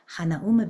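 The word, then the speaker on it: Hanauma: I was a kid hanum Bay if you're saying it correctly but I say Han Bay uh you walk down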